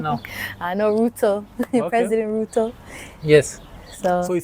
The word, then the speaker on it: Ruto: You see, not Ruto. It's Ruto. The T is too strong.